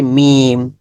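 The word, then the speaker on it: ميم: মিম আমাদের বন্ধু মিম মিমের মাখরাজ ঠোটের বাহিরের ভাগ যুক্ত করুন ঠোটের বাহিরের অংশ আমরা দেখি দেখেছি যে বায়ের ক্ষেত্রে ঠোটের ভেতরের অংশ যুক্ত হয়েছে এখান থেকে উচ্চারণ বের হয়েছে আর এটা হবে মিম ঠোটের বাহিরের অংশ থেকে মিম ঠোটটাকে মিশিয়ে দিবেন মিম মিম মিম আচ্ছা তারপরে এটা হচ্ছে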